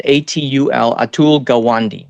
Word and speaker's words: Atul Gawande: I'm pronouncing this correctly. It's Atul, Atul Gawande, Gawande.